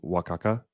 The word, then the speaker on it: Oaxaca: And also our tour guide gave us like a tour of like some of the stuff that people do that's tradition in Oaxaca.